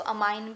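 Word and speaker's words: amine: कुछ बच्चे इसको अमाइन भी प्रोनाउंस करते हैं, तो आप इसको एमीन या अमाइन यूज़ कर सकते हैं।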